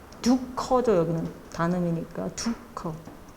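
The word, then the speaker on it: दुःख: 걸 사르가 하는데 이렇게 사르가 중간에 들어갈 때는 어떻게 읽어야 하냐면 그냥 흐 발음 읽으시면 됩니다 두커 두 커죠 여기는 다음이니 두커 허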